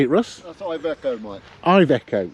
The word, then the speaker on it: Iveco: That's Iveco, Mike.